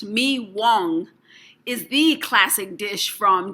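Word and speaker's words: mì Quảng: famous vietnamese baguette meek wong pronounced me wong is the classic dish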